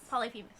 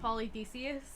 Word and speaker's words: Polyphemus: cyclones so um and his name is polyphemus polyphemus i've heard one person pronounce it polythesius oh but that's not how we lost the polyphemus yeah polyphemus polyphemus is